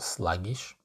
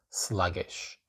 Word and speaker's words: sluggish: you can say sluggish again the I it's not sluggish it's sluggish sluggish okay and unhurried sluggish